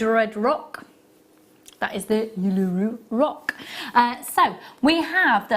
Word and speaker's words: Uluru: Uluru.